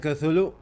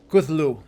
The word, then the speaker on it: Cthulhu: Oh, I've been saying it wrong, it's Cthulhu, not Cthulhu, Cthulhu.